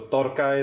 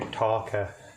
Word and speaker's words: tarka: Basically, this is what your torka is. So when you see torka or tarka, as it's spelled in English, torka is basically your